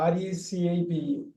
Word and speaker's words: recipe: RECIPE. இது எப்படி படிப்பீங்க? ரெசிபி. அவ்வளவுதான். சோ இதுவும் பிரெஞ்சுல இருந்து வந்த வார்த்தை தான். Recipe. Recipe. நிறைய பேர் ரெசிபிலாம் சொல்லுவாங்க. அது சொல்லக்கூடாது.